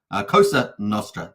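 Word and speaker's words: Cosa Nostra: for that so just say it correctly Costa kosa Nostra there we go thank you very much the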